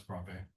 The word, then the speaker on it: Bravais: This is actually he's French, and so this is why it's Bravais. That's actually the correct way to pronounce it.